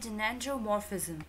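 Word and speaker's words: gynandromorphism: Friends, pronunciation आप इसको ध्यान दीजिएगा कि ये है जेनेंड्रोमॉर्फिज्म।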